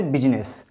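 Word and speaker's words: business: आई में देखिए, आई में सिर्फ एक ही वर्ड है जिसमें आई साइलेंट रखा जाता है, जैसे बिजनेस, यहाँ पर आई है, इसको साइलेंट रखा जाता है।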